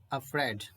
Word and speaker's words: afraid: तो इसका सही प्रोनाउंसिएशन क्या है? afraid, अफ्रेड, अफ्रेड।